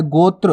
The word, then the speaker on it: गोत्र: ये देखो त्रा, ये वाला गोत्र, तो आपको उच्चारण भी सीखना है, गोत्र, त्र, इस प्रकार से उच्चारण हो रहा है, तो गोत्र।